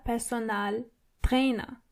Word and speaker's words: Personaltrainer: A personal trainer is der Personaltrainer. So it's similar, but you have to roll your R one more time. Der Personaltrainer. And the A in personal is more obvious than the English version.